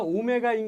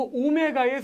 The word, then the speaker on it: 오메가: 만나게 돼 그리스 문자고 이렇게 생긴 문자가 오메가인 거 들어본 적 있지 이거 오메가의 소문자 제발 이거를라고 읽으면 아유 이거 정말이 너무 망신 나가는 거야 오메가 오메가 DT DS